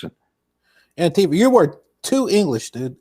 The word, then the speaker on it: Antifa: And I'm sorry, I always mispronounce this because I go anti-fa, because it's anti-fascist.